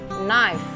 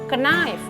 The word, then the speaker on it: knife: biarkan mengucapkannya itu kan yang sebenarnya adalah nice tetapi kadang-kadang saya masih sering dengar Orang mengucapkannya Knight katanya kayam di depan itu ikut dibacanya gitu ya blog dalam bahasa